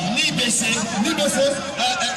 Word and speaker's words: NIBECE: Ni baisser. C'est un nom marqué. Oui, ni baisser. La prononciation, c'est ni baisser.